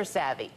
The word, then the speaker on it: SAVI: Is that how you pronounce it? SAVI, yes.